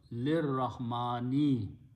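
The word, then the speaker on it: لِلرَّحْمَٰنِ: you read them together, you pronounce lir Rahman. But lam is a half a jar, half a jar is preposition changes last letter sound to a kasra. And the word becomes lir Rahmani.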